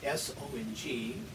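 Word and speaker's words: 松: pronounce it we'd write s-o-n-g in english we would say song like oh i have heard that song but this is good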